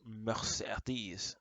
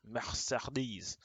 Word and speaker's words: Mercedes: Also, all the E's in the word Mercedes are pronounced differently. When you say Is it Mercedes? Mercedes.